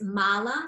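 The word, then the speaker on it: mālā: It's spelled M-A-L-A, but then if we say mala, M-A-L-A as well, but without this little line underneath one of the A's, it comes out as mala.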